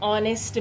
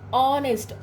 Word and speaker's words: honest: We are saying honest, honest. Listen carefully. I am not saying honest. We have to pronounce this as honest. So, O sound comes first. H is silent here.